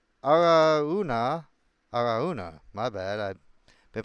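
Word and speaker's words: Araunah: But the king replied to Aruan. Aaruna. Aruna. My bad. I been pronouncing your time your name this incorrectly this whole time.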